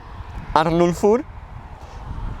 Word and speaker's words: Arnulfur: Well, his real name is Arnulfur, and he says it's pronounced as it's written, so Arnulfur. I'm gonna let him pronounce it. Yo, Karla Frétta. My name is Arnulfur and I'm a photographer